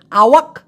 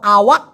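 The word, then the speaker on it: awak: বলা হয় আওয়াক আওয়াক এখন এই যে আমি বললাম আওয়াক ক টাকে কত জোরে ঠাসা দিয়ে বলছি বড় করে উচ্চারণ করছি আওয়াক বাট হবে না মূলত মালয়েশিয়ানরা এটাকে উচ্চারণ করে আওয়া আওয়া মানে আওয়া বলার পরে ক উচ্চারণ করে ঠিকই কিন্তু মনে হয় যে উচ্চারণ করে নাই মানে একটা ধাক্কা দেওয়ার মতো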